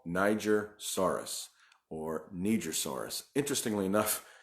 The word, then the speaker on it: Nigersaurus: Interestingly enough, I see different pronunciations all the time. I hear Nigersaurus, but it was discovered in Niger, and people say it should be pronounced Nigersaurus, but the gentleman that actually named it pronounces it Nigersaurus.